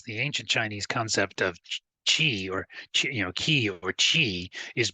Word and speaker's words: qi: Um, in Mandarin Chinese, it is pronounced something like qi in English, but the tongue position is different.